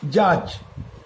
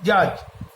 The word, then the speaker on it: judge: আবার জাজ, JUDGE, জাজ, জাজ মানে বিচারক, এখানে কিন্তু ডি এর উচ্চারণটা হচ্ছে না, অর্থাৎ ডি সাইলেন্ট লেটার হিসাবে থেকে যাচ্ছে।